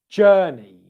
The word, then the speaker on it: journey: What about the word journey? Journey, okay? I'm going to do a journey this weekend. Journey. The same thing applies. It's a 2-syllable word. The stress is on the first syllable of that word.